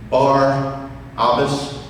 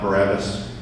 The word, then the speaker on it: Barabbas: happened here with Barabbas we pronounce his name wrong did you know his name is bar Albus not Barabbas you know what Mara